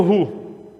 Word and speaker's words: roux: deixa eu apresentar o roux para vocês.